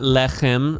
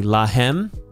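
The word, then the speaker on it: להם: take this is not lechem um and and also this is not a uh this is hey so I pronounced it incorrectly lahem and they took to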